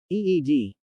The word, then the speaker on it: ed: key sequence in the ed line editor incidentally pronounced eed this stood for global